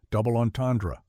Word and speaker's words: double entendre: Double onandra. The ends are nasalized. The R somewhat throaty and the final syllable is barely audible.